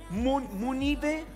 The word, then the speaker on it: Munive: Muy bien, pues Christopher Munive, está medio complicado tu apellido, pero ¿qué más da? ¿Cómo es? Se pronuncia Muniv.